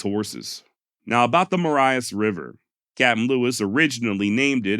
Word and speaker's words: Marias River: So in all actuality, if you want to be correct, it's Maria's River, not the Marias River. However, it does appear that Montana locals do call it the Marias, so I also chose to go with that pronunciation.